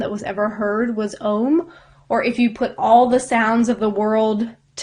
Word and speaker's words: Om: Om you will see written O-M.